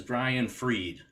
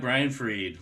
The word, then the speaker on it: Brian Fried: Jay Farr AT techfusion Systems Our Guest is Brian freed I pronounced that correctly right yep and actually sometimes